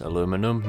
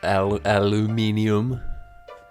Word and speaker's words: aluminum: And by the way, you degenerates, it's pronounced aluminum, not aluminium.